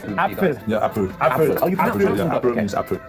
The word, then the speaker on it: Apfel: So there's a P and then an F, right? Apfel.